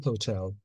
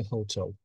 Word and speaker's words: hotel: The Fame Hotel. Кстати, никогда не говорите hotel. Урху, то есть ударение, делается на tell.